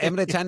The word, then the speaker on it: Emre Can: O sea, Emre Can es como se pronuncia en turco.